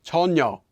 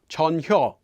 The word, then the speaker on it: 전혀: some examples of that chonyo is pronounced closer to tonyo not chanyo ure is pronounced as ure